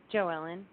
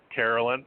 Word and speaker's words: Jo Ellen: just say honey mom Carolyn okay if you just say my name is Carolyn it'll pull you forward no it's Jo Ellen like Joey no Ellen so if you just